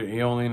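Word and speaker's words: Aeolian: a is the eolian they pronounce it eolian I've heard aolan I think it's eolian but it starts with an A and this is the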